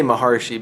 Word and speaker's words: Maharshi: Ramana Maharshi, they say Maharshi, but like if you looked at it, it's Maharishi. But if you say Maharishi, everybody will think you're talking about the fellow from Transcendental Meditation.